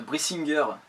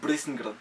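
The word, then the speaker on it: Brisingr: Ah ouais, moi je sais dire Brissinger. Bon, alors déjà, c'est de l'ancien langage des elfes et ça se prononcerait plutôt Brissinger.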